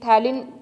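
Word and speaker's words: phthalein: जैसे थैलिन पी इसमें साइलेंट रहेगा, तो आपने क्या, इसको क्या नेम सजेस्ट करते हैं हम, थैलिन रिएक्शन।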